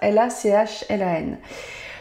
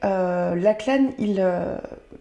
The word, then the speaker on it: Lachlan: Je pense que ça se prononce comme ça. L-A-C-H-L-A-N.